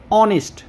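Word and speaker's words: honest: এইচ এর উচ্চারণ কিন্তু বাংলাতে হয় কিন্তু এখানে উচ্চারণ কি হয়েছে অনেস্ট স্বরেও হয়েছে অর্থাৎ স্বরবর্ণের উচ্চারণ হয়েছে তাই এখানে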